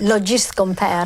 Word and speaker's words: Logist Compare: Is it Logist? How do you pronounce it? Logist Compare. Logist Compare. Needs a French accent, actually, doesn't it? Logist Compare. Italian. It does, or an Italian accent, Italian even better.